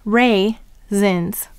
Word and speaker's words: raisins: Go ahead and write raisins. And now help me to write it by sounding it out with me. The first syllable is ray, er, a. The second syllable is zins, z, I, n, z.